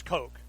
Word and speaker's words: Koch: get online the Koch the pus Koch Industries coke coke coke coke okay Togo waters coke whatever